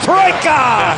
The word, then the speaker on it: trojka: Troika! That's how they say it in Serbian.